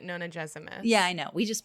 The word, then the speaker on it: Nonagesimus: I didn't really have much to say about anything except that I've been pronouncing Nonagesimus wrong. Oh my god. It's Nonagesimus. Yeah, but Moira Quirk pronounces it Nonagesimus.